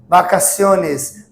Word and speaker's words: vacaciones: Vacaciones, vacaciones. Não é vá, não é ba, é um vacaciones, vacaciones, para dentro, que significa férias.